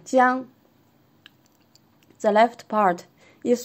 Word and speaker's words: 江: Jiang, river. The first tone, Jiang.